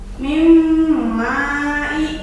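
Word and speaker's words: مِنْ مَالٍ: Nah, mim mai. Nah, itu ya, jadi nunnya hilang. Mim mai kan ditulis nama min mai, tapi dibacanya jadi mim mai karena dimasukkan ke dalam huruf mim.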